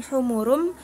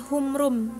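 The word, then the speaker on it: حمر: Ee contohnya di surah almuddatir kaannahum humurum humurum. Jadi jangan terdengar seperti humrum gitu ya.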